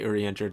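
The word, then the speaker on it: Urianger: early on uh ergenger i know i say uri injured that's how his name is pronounced in jp i'm sorry i'm sorry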